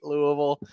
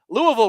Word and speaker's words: Louisville: how's that richard tate louisville i guess the s is silent um moving on nicholas